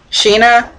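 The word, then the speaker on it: Sina: walls maria rose and like cena cyna sheena as they pronounce it and not only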